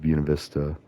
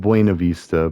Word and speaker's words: Buena Vista: And so, I know people say it Buena Vista, but that's one of the things of the locals is like the locals say it Buena Vista. Just like you don't say Los Angeles. Like nobody says Los Angeles.